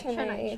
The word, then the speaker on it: Chennai: Did I pronounce it correctly? Yeah, Chennai, Chennai, right?